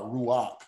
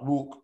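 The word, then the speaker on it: רוח: closing the syllable um for this word here is pronouncing the vowel before the actual consonant which is not normal so that's where you get ra ra ruach and some will say ra rook rock rock is what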